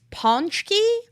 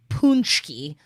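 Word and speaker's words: pączki: c z k i so it's either pronounced panchky or punchy according to wikipedia okay okay oh god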